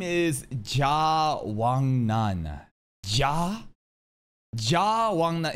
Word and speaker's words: Ja Wangnan: Ja Wangnan in Korean. Basically, you have three syllables, and the first syllable that you hear, Ja, is the surname, as the last name. And you could see Wangnan as like the first name, kind of.